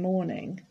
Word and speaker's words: mourning: spelled differently we've got m o u r n i n g but the pronunciation is exactly the same i am in mourning